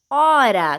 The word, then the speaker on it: hora: no início da palavra a letra h vem sempre seguida de vogal e não é pronunciada porque não representa som algum olha só os exemplos